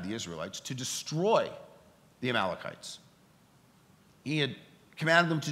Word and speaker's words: Amalekites: Amalekites?